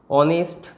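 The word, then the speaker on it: honest: যেমন অনার, তারপর সেরকম একইভাবে এই যে ওয়ার্ডগুলো অনেস্ট, অনারেবল, এই ধরনের যে ওয়ার্ডগুলো, এদের উচ্চারণ, এরা এইচ দিয়ে শুরু হলেও এদের উচ্চারণটা মেনলি কী দিয়ে আসছে, ভাওয়েল উচ্চারণ, ঠিক আছে।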